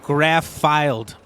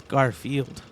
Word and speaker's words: Garfield: to how it's spelled you did graph filed but it's Garfield graph filed oh man